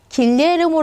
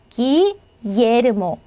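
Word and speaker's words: Guillermo: 그고 자체로만 움직이게 됩니다 그래서 기예르모 예가 되는 거예요 절대로 길 이렇게 리 바이 나오지 않습니다 얘는 기예르모 기예르모라고 읽으시면 되고요 마야 마야요요 자다가 바로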